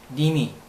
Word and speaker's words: mneme: 다음 M-N-E-M-E 니미. 발음이 재밌죠. 니미 뽕 할 때 니미.